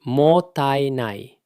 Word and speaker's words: mottainai: Pronounced roughly mottainai.